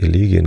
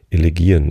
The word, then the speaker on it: Elegien: Ich habe Elegien gesagt, ne? War falsch. Elegien ist die richtige Aussprache. Duineser Elegien.